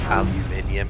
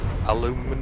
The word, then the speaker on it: aluminium: You know, the fact that we pronounce it correctly, and they say, what do they say? Aluminum. Aluminum. Yeah, they think there's O's in aluminum. But there's no O's in aluminium.